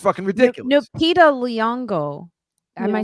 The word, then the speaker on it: Lupita Nyong'o: Lupita Nyong'o. Am I saying it right? Lupita, yeah. I'm saying it. Lupita Nyong'o.